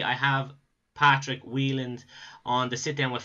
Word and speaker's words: Wieland: Wieland, it's it's kind of like a funny story.